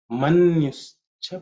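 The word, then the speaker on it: मन्युश्च: manyuhu cha, the visarga here, as you can manyuhu, visarga has become ish because of sandhi. So that's how you get manyuscha.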